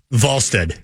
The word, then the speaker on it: Wallstedt: You like to emphasize the Wall. Yeah, how do you pronounce his name? Jesper Wallstedt. Wall. Wallstedt.